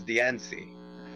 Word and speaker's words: Diancie: So how But, does like- everyone pronounce Diancie?